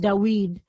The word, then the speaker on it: David: still pronounced this way more of a w sound so we actually think